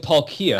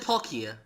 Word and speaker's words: Palkia: You said Palkia. I just said Palkia. Palkia. Yeah. No, you said Palkia. Okay, so I put a little strong emphasis on the last syllable.